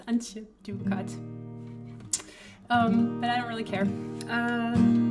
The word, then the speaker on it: Antje Duvekot: It's Antje Duvekot.